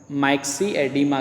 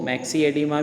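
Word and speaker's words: myxedema: तो ये जो कंडीशन है इसे माइक्सी एडिमा कहते हैं, मैक्सी एडिमा या माइक्सेडेमा, जो भी आप इसका प्रोनाउंसिएशन करना चाहें, ठीक है। इसको मैक्सी एडिमा भी बोल सकते हैं या माइक्सेडेमा भी बोल सकते हैं, ठीक है।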